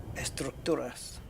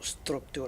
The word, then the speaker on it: estructura: than what we need there we go yeah estructuras estructura I wasn't far away EST because the the letter s is literally pronounced like an S not s it's not structur it would always be structur artificial I wasn't